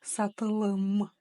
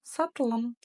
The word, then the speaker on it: сатылым: Просто помним о том, что буква «о», где бы она ни стояла, произносится очень и очень кратко. Не как в русском языке саталам, а прям сатлам, сатлам. Как будто бы ее там нет.